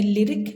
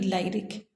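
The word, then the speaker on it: lyric: तो इसमें हम पहला जो वावल है वाई, उसके उच्चारण को लॉन्ग आई ना करते हुए हम शॉर्ट करते हैं और इसे कहते हैं लिरिक, ना कि लाइरिक।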